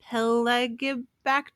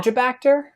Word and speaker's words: Pelagibacter: Yeah, Um, like what is a peligobacter? A peligobacter? Peligobacter? I'm probably saying it wrong. Pelagibacter? I think Oh, it's maybe it's a Pelagibacter. pelagibacter. That sounds more correct.